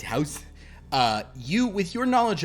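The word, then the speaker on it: huis: use h-u-i-s don't worry about it um it's pronounced house uh you with your knowledge of of Blue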